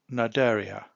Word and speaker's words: Cnidaria: of Animalia we have naria this word is a silent letter C this is an interesting